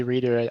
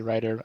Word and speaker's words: Reiter: probably butchering that well most people say reader i say writer i don't really write